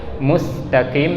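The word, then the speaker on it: مستقيم: Mustaqim juga sama, jangan musa tapi musta, ya.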